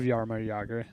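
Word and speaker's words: Jágr: I love Yarma Yagger and you got to say it like that.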